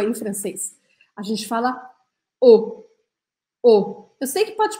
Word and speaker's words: eau: um monte de letra E, A, U, mas a gente fala eau. E por que que isso acontece? Porque em francês, essas três letrinhas juntas, a gente pronuncia o.